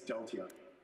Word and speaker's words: Deltion: Do you like it pronounced Deltion or Deltion? It's Deltion. Deltion, well, over to you, CEO of Deltion Innovations Limited.